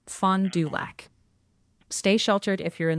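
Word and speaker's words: Fond du Lac: By the way, a lot of people in chat are asking about the voice change and they're pointing out the pronunciation is fondac.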